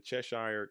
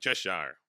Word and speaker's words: Cheshire: They said I was saying, when I was saying Cheshire with my normal American dialect, but apparently it's Cheshire.